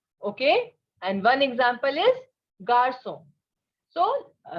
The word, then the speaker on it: garçon: And one example is garçon. So always remember that in French, G is pronounced as J and J is pronounced as G, right?